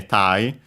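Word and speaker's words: 体: Kada unacented Thai. It's the uh Chinese reading. Uh so yeah, literally say Thai.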